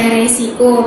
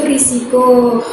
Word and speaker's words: risiko: Contoh lain, orang sering sekali berkata resiko, padahal ejaan bakunya itu risiko.